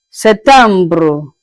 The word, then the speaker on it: septembre: In French, you pronounce it as septembre. Septembre. It's like the P is silenced a little bit. So you go to pronounce it as septembre. Septembre. Je répète. Septembre.